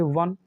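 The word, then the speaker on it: one: आप कहेंगे सर बिल्कुल तो इसे आप पढ़ोगे तो क्या प्रोनाउंस करोगे वन यही तो करोगे ना तो यहां ओ का साउंड क्या है आप कहेंगे सर व और यहां इसे आप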